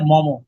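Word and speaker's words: Maugham: প্রথমে হচ্ছে William সমার সেট এটা আসলে মম উচ্চারণটা হবে মার নামটা হচ্ছে মম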